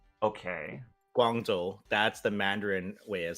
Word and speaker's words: Guangzhou: You have the Cantonese pronunciation, which is Gongzhou, more or less. So how you're saying it now, pretty much on point. The way they write it in the game there, that is Guangzhou.